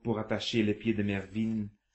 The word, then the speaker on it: Mervyn: rappeler à votre oreille le mot qui se prononce Mervyn.